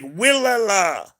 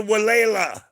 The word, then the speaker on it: Walela: Now, if you tried to spell it, it will sound like Willala. but they were the Walela.